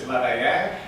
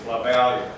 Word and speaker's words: Lavalier: Okay, in French it's Lavalier, but in English it's Lavalier.